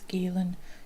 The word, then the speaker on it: Guillen: young lady called vanessa gillan again i'm sorry if i pronounce these things wrong i'm sure it's galen g-u-i-l-e-n so vanessa was